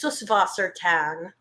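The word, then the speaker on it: Süßwassertang: oh by the way it's suswatang because it it means like underwater plants and that little it's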